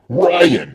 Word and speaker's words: Rian: Well, it ends with R-A-I-N. Ryan. Yes, Ryan.